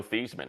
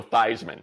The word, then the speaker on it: Theismann: dame did for joe thiesman right and change his literally changed the pronunciation of the man's name to joe theismann instead of thieves whoa that story yes